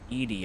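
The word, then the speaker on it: Edie: That's how you pronounce it. Oh, okay. Edy. I thought it was like Edi or something like that.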